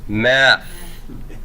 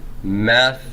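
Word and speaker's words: μεθ': Meth with a rough breathing, because th is a fricative, blowing air through it is easier to pronounce with a h at the same time, right? I can very easily go from th to h. Meth, as opposed to met, okay? Just takes a little bit more effort to do that.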